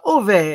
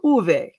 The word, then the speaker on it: Ove: the switch baby uh ove the swedes pronounce it uh the O like it's ooh in pool so it's uh so uve so all of it nice